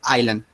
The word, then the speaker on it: island: H in this war you don't pronounce the S sound h i mean you say like it doesn't have S is like Island just just like that